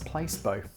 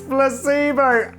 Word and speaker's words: Placebo: uniform to school and asked him what's place beau and he was like it's placebo and then he told everyone that i pronounced it place both and it was uh